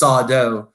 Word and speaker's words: Sardo: I'll talk with my dad, and he'll probably still say it's Sardo, accent on the dough, right?